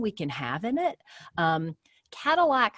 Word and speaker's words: Kadilak: Cadillac Homes, and that's spelled Kadilak, Cadillac Homes in Burlington, Massachusetts, has almost 6,000 followers on their TikTok and over 130,000 likes on their videos.